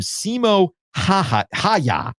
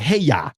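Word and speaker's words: Simo Häyhä: You have to pronounce all the vowels. Or is it hey ya?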